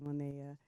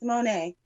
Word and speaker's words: Monet: Happy birthday, Monia. It's Monet, but thank you. Okay. I've been calling you Monet, but when I was looking at your Instagram, The way it's spelled, you have on there the pronunciation Monet, and I was like,